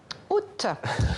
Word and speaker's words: août: Oui. Mais au temps d'Apollinaire, il y a un peu plus d'un siècle, bientôt finira loup, reverrai-je mon petit loup, le T final de août était muet.